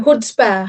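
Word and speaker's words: chutzpah: हुड्स हुड्स इसमें इसमें सी silent है।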